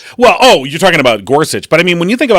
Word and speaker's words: Gorsuch: and also, I'm not even sure how to pronounce his name. Is it Gorsuch? Neil Gorsuch? Yeah, Neil Gorsuch.